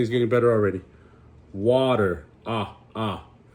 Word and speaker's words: a: So A, it's not the letter A, it's ah. So that's how we pronounce it. That's even when we say the alphabet, the letter A is not A, it's the letter ah, right?